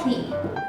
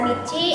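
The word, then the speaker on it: 日: Dia berdiri sendiri maka dia dibacanya hi. Lalu untuk onyominya itu dibacanya bisa nichi atau mi.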